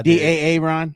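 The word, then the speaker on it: De'Aaron: Da Ron.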